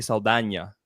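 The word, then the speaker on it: Saldaña: Zoe Saldana, for example. That's how you pronounce her name, Saldana.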